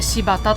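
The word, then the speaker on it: 新発田: の停車駅は柴田駅あの豆柴とかの芝じゃなくて新しく発する田んぼと書いて柴田と読みます新潟を出て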